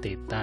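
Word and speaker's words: θ: Sehingga ini bacanya theta ya, theta sama dengan 2VR per R, maka theta sama dengan 2V radian.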